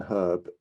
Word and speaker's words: herb: this to you but the letter h in herb is not silent number three the letter